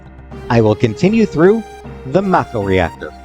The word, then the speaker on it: Mako: I don't know if there's an official pronunciation. I think I think Remake and Rebirth calls it Macco. I'll go with Makco unless I slip up and call it Mako.